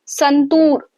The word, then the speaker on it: Santoor: अब आपको वह बता रहा है that when when you speak संतूर then tour यह जो डबल ओ है उसका